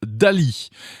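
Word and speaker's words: DALL-E: grand public du site Dali alors pas le peintre Dali ça se prononce pareil mais ça ne s'écrit pas pareil là il s'agit de dalida2l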